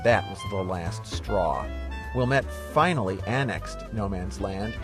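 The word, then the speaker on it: Ouilmette: Antoine Wilmette, that's spelled O-U-I-L-M-E-T-T-E, was a French-Canadian fur trader and one of Chicago's first settlers.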